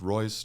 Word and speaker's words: Roise: It's the last name is pronounced Royce, just like the car Rolls Royce, but it is spelled differently.